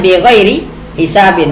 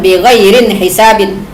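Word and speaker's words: بِغَيْرِ حِسَابٍ: Ya, dan Al-Qur'an membacanya bi ghairi hisabin bukan bi ghairin hisabin.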